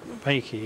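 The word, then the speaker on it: reiki: does it mean well vakey if you were to split vakey into two syllables the Ray and key Ray is universal and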